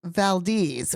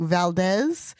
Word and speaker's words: Valdez: And we lived in Anchorage, which is pronounced Anchorage, but it's not far from Valdez, which is spelled like Valdez, but it's pronounced Valdez.